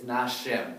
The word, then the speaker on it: нашем: Nashom, Look, it's nashem. Look at those, just look right up here. So v'nashem. Only because the stress is on the stem.